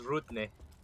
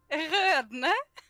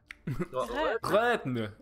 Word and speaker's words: Rødne: It's similar to the one that makes the IR sound in girl. It's the R that was a problem. Rødne.